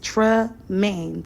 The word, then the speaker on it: Tremaine: Yes, Tremaine, 2 syllables.